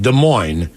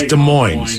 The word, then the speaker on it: Des Moines: where both s's are silent on the end of both words but here it's Des Moines no here it's desmo or is it is it Des Moines It's Des Moines I think it's just Des Moines Des Moines so there's the S at the end but not at the beginning but remember on the